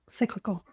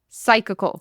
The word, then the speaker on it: psychical: Study on the Psychical, Cyclical. Psychical, Cyclical. Psychical, no, Psychical, Psychic, like psychical. Oh, well, I thought you were asking me. No. I'm like, you're still saying it wrong. It's psychical. So, an experimental study on